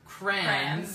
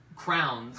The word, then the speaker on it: crayon: Oh, and this is also, she says crayons, Crayons. and I used to say crowns when I was Crowns, a kid.